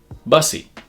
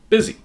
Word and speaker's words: busy: When you look at this word, you might think it might be pronounced busy or bussy, but in fact, it's busy. English, like all languages, is constantly changing and shifting, and it has many different dialects.